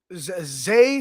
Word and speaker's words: Zah: Maybe they like I said, they're gonna have Zay Frazier or Zah Frazier. I don't know whatever how you pronounce it. I think it's Zay, but spelled Z-A-H.